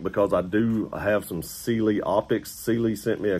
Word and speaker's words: Sealy: And that is the correct way to pronounce that. I actually asked them because I've seen a ton of people pronounce this a ton of different ways. And Sealy is the correct way.